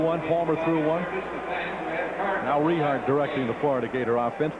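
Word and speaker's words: Richart: All right, let's pronounce the young man's name correctly. It's Rehart, R-I-C-H-A-R-T, the quarterback.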